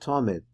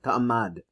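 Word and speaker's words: תמיד: So he said, because of Tamid, because it's written like this, like Tamad, but it's pronounced Tamid.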